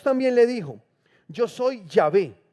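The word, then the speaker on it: Yahweh: le dijo Yo soy yahvé aquí aparece como yahvé pero realmente la palabra en el idioma original es yahua así como está acá yh listo dice también le dijo Yo soy yahua el Señor me aparecí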